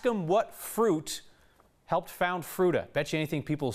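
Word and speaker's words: Fruita: say we pronounced by fruta so just like it sounds the word fruit plus a on the end and the history of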